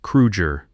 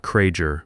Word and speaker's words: Krueger: You pronounced his name correctly, Krueger, not Krager, my Myger, because he could hear the difference and he would remember.